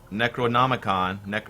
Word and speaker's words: Necronomicon: And I'm gonna use this Necronomicon.